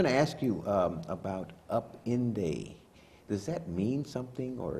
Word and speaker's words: Upinde: Upinde, it means rainbow in Swahili, but we pronounce it Upinde because it also applies to our program.